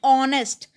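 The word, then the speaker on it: honest: ठीक है, my father is एन ऑनेस्ट, इसको ऑनेस्ट बोलेंगे। ठीक है, एच साइलेंट हो जाता है और ओ की आवाज़ देता है, ऑनेस्ट, तो यहाँ पे एन आ जाएगा।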